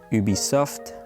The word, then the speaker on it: Ubisoft: too bad so by ubisoft i won't pronounce it with the english accent because that's just terrible it's ubisoft not ubisoft but ubisoft it's a french company and it was released